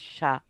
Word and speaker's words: chat: chat, but it's pronounced Shah. Yeah, Like the guy in Iran. Mm-hmm. Oh, the Shaw? Yeah. Because we don't pronounce the T at the end.